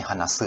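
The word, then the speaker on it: 話す: Ini hanasu ya bacanya, hanasu.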